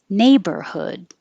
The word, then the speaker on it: neighborhood: Neighborhood. Neighborhood. And remember that the hood at the end is the same as in good, could, and would. So don't round your lips.